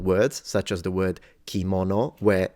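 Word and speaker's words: 着物: can see it here kimono and that's at the beginning of a word and it does not turn into a g it's still pronounced as in its original sound which is K literally mono means object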